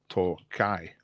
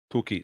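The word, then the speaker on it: Tokaj: You can spell it Tokai, Tokai, or Tokai, like that. Toki. No, not Toki. That's wrong. Anyway, there's me trying to be smart. Doesn't matter. Tokai's fine. It's acceptable. So Hungary was the right answer.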